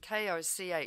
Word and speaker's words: Koch: Well, what do we do about those fellows, the Koch brothers? I don't know how you pronounce their name, K-O-C-H. No, you got it, yeah. The Koch brothers.